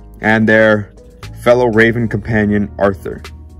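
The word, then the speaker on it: Artur: And their fellow Raven companion, Arthur, which is actually pronounced Archer by them.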